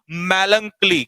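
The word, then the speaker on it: melancholy: मेलंकली, कई बार बच्चे इसका प्रोनाउंसिएशन गलत कर देते हैं, तो दिस इज कॉल्ड मेलंकली। क्या है? मेलंकली।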